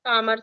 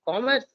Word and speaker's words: commerce: School Commerce exactly I it's not Commerce it's Commerce so that that the sound